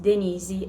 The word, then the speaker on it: Denise: live in Brazil, and in Brazil my name is pronounced Denise, as Patrick is pronounced Patrick, and that's fine.